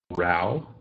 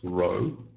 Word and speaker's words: row: So here's the first one, to have a row with somebody. This word is row. It's not row, it's a row. Rhymes with now pronunciation.